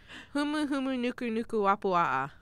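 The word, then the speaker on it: humuhumunukunukuāpuaʻa: I don't know it off the top of my head, but yes, I've pronounced it, and I know it's like huma. You got the first letter right. Yeah. Humu humu nuku nuku wapua'a.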